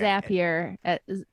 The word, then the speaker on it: Zapier: in zapier yes okay zapier we can I just get upset with them why didn't they spell it with two P's it should be zapier but their tagline is zapier makes you happier right right um so